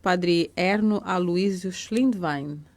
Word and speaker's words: Schlindwein: Schlindwein é origem alemã, Wein é vinho, e Schlind no dialeto aí do Reno, onde saíram os antepassados no século passado, retrasado agora, significa comerciante, degustador de vinho.